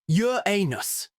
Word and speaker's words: Uranus: William Hershel discovered Uranus, a planet that expanded our understanding of the solar system and gave generations of school children a lifetime supply of loweffort jokes. Yes, it's pronounced Yur anus, but try telling that to a 12-year-old or